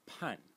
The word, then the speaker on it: 叛: The next character is pronounced pan. Pan in the fourth tone, and it means to betray.